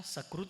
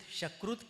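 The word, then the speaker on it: सुकृत: लेकिन किसी का उच्चारण ठीक नहीं था। उसने कहा आपने बहुत शकुत किया है। सक्रुत की बजाय कहा शकुत। शकुत का अर्थ है विष्टा।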